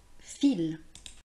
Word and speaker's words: fil: Je note le mot fil. Nous terminons cette vidéo avec la leçon écrite comme d'habitude.